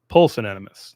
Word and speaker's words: pusillanimous: I'm mispronouncing that. Like, it's small-souled, opposite of magnanimous. Pusillanimous.